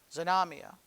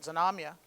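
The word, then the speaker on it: Znamya: in russian it's uh z-n-a-m-y-a zonamia i guess is how you pronounce it zanomya and it means banner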